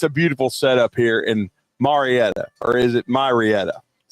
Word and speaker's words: Marietta: Marietta or is it Marietta? Maretta. Is that the real pronunciation of it if you hang around there long enough?